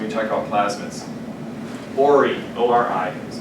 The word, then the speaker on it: ORI: ORI, O-R-I, is pronounced ORI, is an origin of replication.